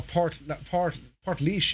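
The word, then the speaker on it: Portlaoise: Yeah, Port Leash is interesting. Or Port Leash is how they pronounce it. It's been anglicised, but yeah.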